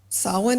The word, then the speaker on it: Samhain: we are celebrating saan saan is spelled s m h a i n it's Celtic the ancient